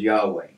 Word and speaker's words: Yahweh: right so um the the typically accepted theologically pronunciation of the name is yahweh and moses would not